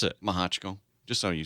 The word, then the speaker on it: Mehochko: it that way and I don't care I pronounce it maja Chico just so you saying alright well you made